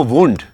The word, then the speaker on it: Wundt: Germany में William वुंड, WI spelling ध्यान से इसके नोट करना, William वुंड, WUNDT, William वुंड ने पहली प्रयोगशाला 1879 में जर्मनी में, और जर्मनी में किस जगह?